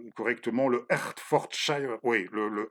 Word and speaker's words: Hertfordshire: une région qui s'appelle voilà, j'aimerais bien le prononcer correctement, le Hertfordshire. Oui, le Hertfordshire.